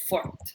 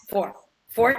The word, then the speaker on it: fort: So you would pronounce the R, but not the T.